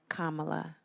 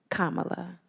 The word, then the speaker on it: Kamala: accusations against President Joe Biden and vice president kamla Harris Kamala K like the pronunciation and I know that we've addressed this